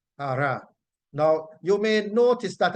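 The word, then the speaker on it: חרה: And the word from which we get anger coming, it is transliterated to C-H-A-R-A-H, and that is pronounced hara, hara, hara.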